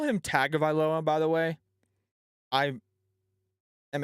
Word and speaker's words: Tagovailoa: alabama but i believe the official pronunciation of tua's last name is tua tung oviloa like your tongue in your mouth to a tongue of iloa from what i understand either way i like